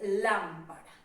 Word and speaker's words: lámpara: Entonces aquí tenemos un ejemplo de lámpara, ¿sí? Lámpara por lo general es la sílaba tónica de esta palabra porque va con su respectivo tilde.